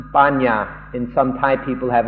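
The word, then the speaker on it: paññā: Like panya in Pali in Thai is pronounced banya, and some Thai people have a different understanding of that.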